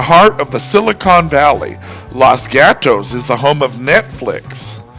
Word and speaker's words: Los Gatos: Right in the heart of the Silicon Valley, Los Gatos is the home of Netflix. The name means the cats in Spanish, and in Spanish it's pronounced Los Gatos.